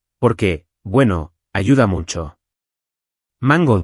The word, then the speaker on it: mango: Mango va con el acento al principio, mango, no mango.